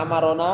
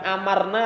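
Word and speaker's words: أمرنا: hai free download hai a'marona Hai kau suruh Jadi Abang Hai ini bukan amarna rosula kalau amarna rosulullaah bahwa kami perintah Rasul Hai ini bacanya amarna rosula kalau ini a'marona Rosulullah Rasul jadi file-nya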